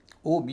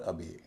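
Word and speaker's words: obey: जैसे ओ बी ई वाई इसके दो उच्चारण है। ओबे और अबे जी आर इ वाई ग्रे इसकी एक spelling ji आर ए वाई भी है।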